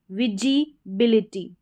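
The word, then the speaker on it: visibility: को वी पढ़ा है इसमें एस आई को जी विजीबिलिटी तो इस एस को जो है यहां पर बिंदी लगा दें ज करके प्रोनाउंस करेंगे हम विजिबिलिटी ज क्योंकि एस के दोनों तरफ कसोनेंट नहीं यहां यहां पर दोनों तरफ स्वर है यानी कि वाऊ लेटर है।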